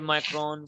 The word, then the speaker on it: micron: studied 3 to 5 micron. So this is the symbol of micron. Wherever you will see this symbol, so you have to pronounce it as micron.